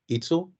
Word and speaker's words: Itzel: And next, do I pronounce this correctly? Itzel? Hi, yeah, my name is Itzel, and I'm calling because I think